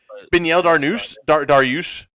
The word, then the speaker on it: Beneil Dariush: Yeah, I could just be getting on your ass about pronouncing his name. Beneil Dariush.